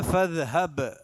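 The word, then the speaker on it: فاذهب: പിന്നെ ഖാല ഫദ്ഹബ്, ഫദ്ഹബ് ബാക്ക് സുക്കൂനാണ്. ഫദ്ഹബ്, ഫദ്ഹബ് എന്ന് ഓതാൻ പാടില്ല, ബാഗ് ഇൽഹാർ ചെയ്തിട്ട് തന്നെ ഫദ്ഹബ് ബ് എന്ന് തന്നെ ഉച്ചാരണം വരണം.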